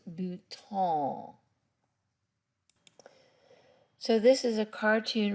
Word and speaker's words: bouton: is it is a button but you pronounce it and you got to get it up in your nose bhutan so this is a